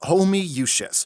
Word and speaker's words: Homoiousios: It's pronounced homoiousios. How? There's 20 O's! It's Latin.